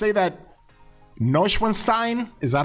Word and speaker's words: Neuschwanstein: that Neuschwanstein?